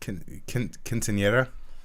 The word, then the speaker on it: Quinceañera: Quinceañera.